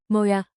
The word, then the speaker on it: Må jeg: Think moi. It sounds like moya.